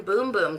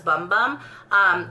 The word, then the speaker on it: Bum Bum: and I actually didn't even know how to pronounce it until recently. So this is the Brazilian Boom Boom cream. I always thought it was Bum Bum.